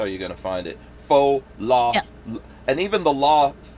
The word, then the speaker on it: Pho: that's how that's how you're gonna find it faux law and even the law part of it